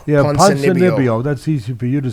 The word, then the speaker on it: Ponzinibbio: How do you pronounce it? Ponzinibbio. Yeah, Ponzinibbio.